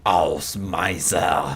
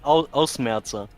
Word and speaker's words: Ausmerzer: Baron von Dorf Ausmeister Mark III is meeting the laser brick. You pronounced that absolutely wrong. Okay, help me. It's called Ausmerzer.